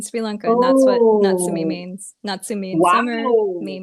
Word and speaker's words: Natsumi: My mom calls me Nat as well, but my name is actually pronounced Natsumi.